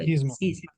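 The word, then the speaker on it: σχίσμα: schisma schisma yes good schisma yeah y like Schism oh that's what I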